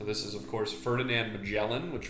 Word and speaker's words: Magellan: is of course ferdinand magellan which rhymes with yelling and lm watermelon all